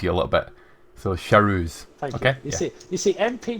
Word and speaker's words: Charouz: and I'll let you know it's pronounced Charouz for the car of Roland and Rohard Lad, just to help you a little bit. So Charouz.